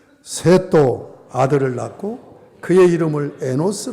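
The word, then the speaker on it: Enosh: 아들 낳았어요 그리고 이름을 에 노스 라고 지었어요 히브리 바로 만 스 바람이 아니야 쉬 발음입니다 n 5시에 noc 에너지 라는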